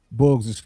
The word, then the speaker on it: Boos: Boos. You said it right.